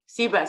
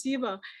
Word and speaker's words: Siva: go next to uh toshiba siba sorry excuse my pronunciation siba go ahead you've been you'll be unmuted shortly no she's not she's not she's not interested okay hello yes uh okay my name is siva yes so um i